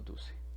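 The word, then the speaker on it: Duce: mussolini que es llamado dulce así como estamos aquí lo pronunció como está escrito en italiano ahora cuáles son las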